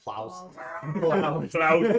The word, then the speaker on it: Plaus: professor ploss professor plotz did you originally spell it pl aws like like that's not how he's spell like pause and just put an l in there yes i did p-l-a-u-s like that's why you got plows like clouds with the